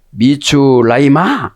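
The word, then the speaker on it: מצרימה: 자, 오늘 보면 미추라이마 그죠? 미추라이마라는 마지막 단어는 해인데 발음을 안 해요.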